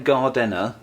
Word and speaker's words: gardener: That's because rather than gardener, 3 syllables, it's just gardener, 2 syllables.